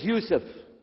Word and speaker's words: Yusuf: My name is Yousef.